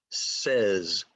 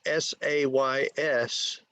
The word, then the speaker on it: says: put it in chat it sounds like s-e-z says so i know that it is s-a-y-s but the way it's